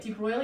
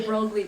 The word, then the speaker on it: de Broglie: By the way deep broil is spelled really weird like that. I used to call it the drogly wavelength but it's not.